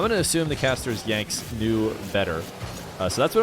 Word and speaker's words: Yanxnzz: To be fair, I think I heard some casters call him Yanks, so that's what I'm going to go with, because I'm assuming casters did the research. I was doing some research on how to say his name. I watched some player videos and stuff who played against him, called him like Yanxnzz, or weren't really sure.